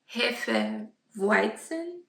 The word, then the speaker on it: Hefeweizen: I listened to the lady on pronouncing it like over and over again, but it's Hefeweizen. It is a German style beer.